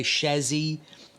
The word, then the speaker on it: chassis: clip this into the Chazzy yes and I say shazzy not chassis or however you pronounce it and um here